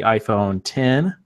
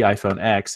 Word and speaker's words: iPhone X: thing moment they announced the iPhone 10 which is not the iPhone X even though it's spelled out iPhone X it's the 10th anniversary and it basically looks